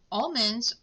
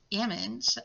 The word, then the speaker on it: almond: Not that I've ever met anybody that says tomato, but almonds or ammons. I do hear the difference there.